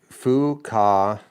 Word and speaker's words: Fuquay: put it down here it's pronounced Fu Ka thanks for years of